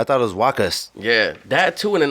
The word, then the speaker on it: Waqqas: So, the way I try to explain it is like Lacoste, that brand. Yeah. Just take off the L, put a W, and take off the T in the end.